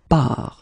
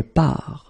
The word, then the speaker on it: pars: So the first form will be je pars, okay? Remember, you put this S, you don't pronounce it. Je pars.